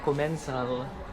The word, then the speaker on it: Commencal: So, sabi nila Commensal. So, yun na yung pronunciation. Commensal.